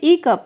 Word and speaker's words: hiccup: ई कप, यहाँ पे H silent है। इसे हिकअप नहीं कहते हैं, इसे कहते हैं ई कप, यानी हिचकी आना।